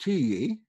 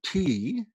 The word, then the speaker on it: Tiye: That would be pronounced Tiye or T.